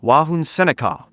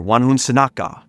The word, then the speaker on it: Wahunsenacawh: The man Powhatan had many names over the course of his life, the earliest of which may have been Wahunsenacawh, or Wahunsenacawh, or Wahunsenacawh. There's many different pronunciations and recording of this name.